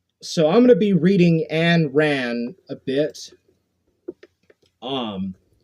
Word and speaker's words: Ayn: that is the Warhammer it's pronounced and ran I think okay yeah I